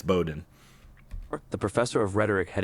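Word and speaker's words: Bowdoin: Yeah, see the AI can't pronounce things like Bowden College. It's it's spelled like Bodoin, but it's Bowden.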